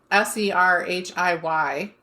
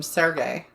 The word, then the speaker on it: Serhiy: So his name is Serhiy, but I saw a lot of articles calling him Sergey.